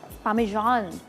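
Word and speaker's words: Parmesan: पामेजान इज़ the actual pronunciation.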